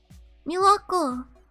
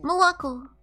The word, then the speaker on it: молоко: Milako. Молоко. Molako. I don't know why I said Milako.